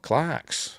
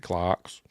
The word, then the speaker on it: Clerks: Uh oh Clarks. or Clerks, however you want to pronounce it. Pronounce it Clarks.